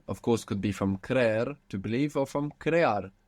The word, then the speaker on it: creer: So, to believe is creer, creer, and it has 2 E's. C-R-E-E-R, creer.